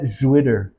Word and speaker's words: Jwitter: And we call it Jwitter because it's spelt with an X now. Rhymes with shitter.